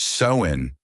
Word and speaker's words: Samhain: Begin at Samhain, pronounced Samhain, the Celtic festival marking summer's end and the New Year's threshold.